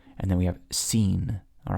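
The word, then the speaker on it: שׂ: If the dot is over here, it's going to be pronounced like a softer S. So we have sheen, seen, sheen, seen, sheen, seen.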